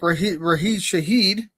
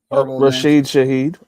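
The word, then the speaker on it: Rasheed Shaheed: Um but then you know you got you got guys like Rahee Shahed, right? Did I say his name right? I'm Rasheed Shahed.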